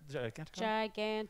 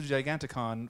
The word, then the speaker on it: Giganticon: Giganticon.